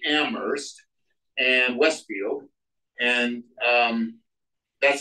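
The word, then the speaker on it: Amherst: um that's a joke Betsie Betsy pronounces it ammer not amers with a hard H so I used to tease her about it until I Googled it and found out that in am ammer that's the way they pronounce ammer they say get the H out of ammer so I was right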